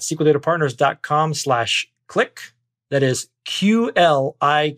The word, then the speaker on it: Qlik: o'clock right that's how you pronounce it it's pronounced click quick by the cute that's like you there